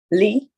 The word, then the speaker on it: li: And that's pronounced, how do you pronounce that? Lee.